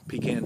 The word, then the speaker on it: pecan: it there there is a peacon tree pecan tree for those of you who pronounce it differently and then on the